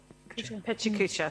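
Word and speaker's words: Pecha Kucha: the items in the report talks about a pekka kutcha uh design creatives for their projects how do you say it marisha pechakucha thank you uh council harwood um what a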